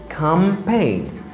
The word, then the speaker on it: campaign: i don't say campaign because the letter g is silent here remember but i say campaign campaign campaign and here